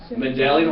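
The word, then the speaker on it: Mendelian: our title for this melan melian genetics terrible word I know mandelian or melan pronounce however you want pronounce however you want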